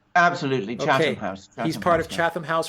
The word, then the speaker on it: Chatham House: Am I pronouncing that correct? Absolutely, Chatham House.